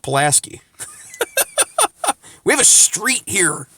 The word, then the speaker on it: Pulaski: Paul and you ask things a lot it's pronounced Pulaski we have a street here named Pulaski whatever